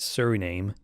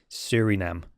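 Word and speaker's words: Suriname: list of five and I think uh I pronounced it Sur name because that's how it's spelled but this gentleman has kindly corrected me with its pronunciation it's actually Surinam so I appreciate that so thanks for joining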